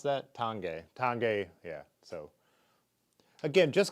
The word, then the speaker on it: Tange: it's neither of these tange is how you pronounce that tange tange yeah so again just because the fork